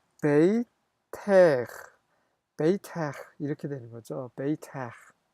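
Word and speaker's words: בֵּיתֵךְ: 마찬가지로 너의라고 할 때는 발음이 나는 카프를 쓰는 겁니다. 그래서 베이트, 아, 베이텍, 베이텍 이렇게 되는 거죠.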